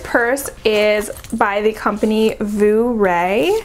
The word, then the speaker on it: Vooray: So this purse is by the company Vooray. It's spelled just like hooray, but with a V.